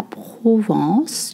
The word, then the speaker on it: Provence: La lavande, la Provence. You don't voice the N sound.